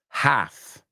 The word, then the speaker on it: half: at right there is the word walk okay walk talk half okay walk talk half no walk t or half these are very common pronunciation mistakes Amigos we're going to